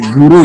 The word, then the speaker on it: Zul: Jadi kayak L tuh jadinya Ru. Jadi Zu masih ada Zul gitu seharusnya. Jadi kita jadi Zuru jadinya di Jepang.